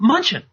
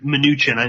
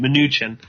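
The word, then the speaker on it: Mnuchin: with with uh um munchin or minuchin excuse me it should minuchin I just realized that's how you say his name minuchin minuchin does anyone have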